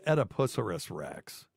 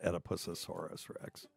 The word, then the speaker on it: Oedipus Rex: Yeah, it's Oedipus Rex. No, not Oedipusasaurus Rex.